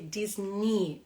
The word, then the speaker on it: Disney: yeah so Disney so although you write this e and Y like in the end so you don't say that you just say Disney Disney and we have other words that have the same uh ending like Britney for example right Britney also ends with a e y and then you just say Britney like Disney okay Disney very